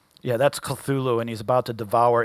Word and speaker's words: Cthulhu: The first syllable of Cthulhu is pronounced gutturally and very thickly. The U is not unlike Cthulhu in sound. Hence, the H represents the guttural thick. Yeah, that's Cthulhu, and he's about to devour H.P.